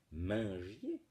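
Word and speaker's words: mengier: Du commandement et défense de Mangier, M-E-N-G-I-E-R, qui se prononce en fait Mangier, c'est un signe d'un trait de dialecte du nord de la France.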